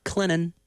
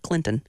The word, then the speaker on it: Clinton: the Red Devils of Clennon, that's pronounced Clennon, not Clinton. Clinton. Trust me, got corrected on air on that one, year one.